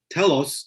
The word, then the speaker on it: Telos: So every time I pronounce Telos, I overemphasize the O to make sure that I'm not talking about Telos.